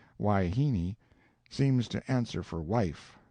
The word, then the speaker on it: wahine: harem full of hyenas wahine most generally pronounced waihini seems to answer for